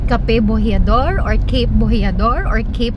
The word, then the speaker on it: Cape Bojeador: I asked the locals here and it's pronounced Cape Bojeador.